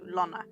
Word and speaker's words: Lonna: It's Lonna, I think. It's basically Donna, but without the D and has the L, so Lonna.